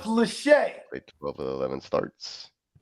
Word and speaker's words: Lachey: Maybe it's Lackey. 6'6", 250. He didn't even run a 40. It's Lackey until he proves himself. Redshirted, played 13. It's pronounced Lachey.